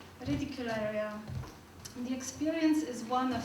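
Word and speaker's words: Reticulárea: the environment of giggles ridicularium i always pronounce it in a flemish way sorry ridicularia the experience is one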